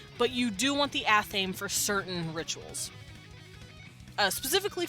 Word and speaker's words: athame: how to pronounce that I always called it an anime but I'm pretty sure it's an athame and it's a knife